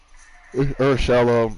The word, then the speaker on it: Urshela: Is Urshela? Urshela. That's literally what the Yankees were calling him all year, and I'm sure they talked to him how he wanted to be pronounced.